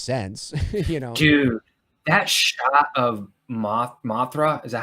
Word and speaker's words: Mothra: Dude, that shot of Mothra, is that how you say it? Mothra, yeah.